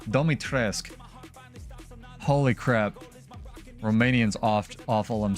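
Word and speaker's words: Dimitrescu: Domitrescu.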